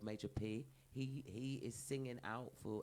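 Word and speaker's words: Majah P: Major P. Major P. It's spelled differently as well. It's spelled MAJAH.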